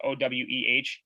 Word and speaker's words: Oweh: I don't even know how you pronounce it. It's Oweh.